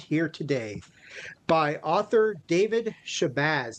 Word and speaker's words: Shabazz: today by author David Shabbaz. Did I pronounce that right, David, or did I butcher that or Yeah, it's actually Shabbaz.